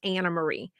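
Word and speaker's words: Anne Marie: some country a n NE Marie but it's pronounced Anna Marie so then I wanted to go back and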